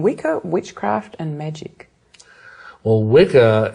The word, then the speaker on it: Wicca: Well, Wicca, it's actually it's pronounced witcher, really. It's the old Anglo-Saxon word that means bent or twisted originally, but it's the origin of our word witch.